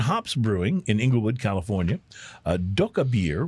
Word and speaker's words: Dokkaebier: Doka Beer, which is spelled Dokkaebier in Oakland, California.